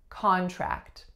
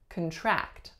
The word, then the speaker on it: contract: So this is acting as a noun because our first syllable was a stressed syllable. The sound of the first syllable was ah, and the second vowel sound is a. I signed a contract. As a verb, the second syllable will receive stress and we'll say contract.